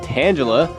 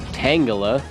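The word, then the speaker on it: Tangela: Burmy goes down and tangula is next or tangala I think it's actually pronounced tangala I just I've always said tangula but oh well apparently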